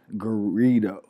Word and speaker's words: Garrido: to pronounce it Oh my last name is ggarrido burrito yeah why would Dorito